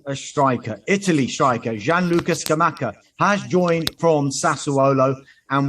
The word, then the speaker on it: Scamacca: Scamacca, yeah, you're doing great. There's no weird accents, there's no weird pronunciations. You can do it phonetically, Scamaka, if that makes it easier for you.